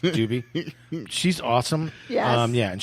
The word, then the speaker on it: Dube: pronounced Doobie.